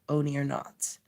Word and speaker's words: Oneironauts: Sorry, Oneironauts. Pronounced.